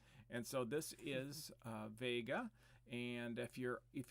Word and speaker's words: Vega: away this is a close by star called vega also pronounced vega i've heard people say that that's a little odd but i think that might be the more correct pronunciation but when i was a kid it was called vega and so this one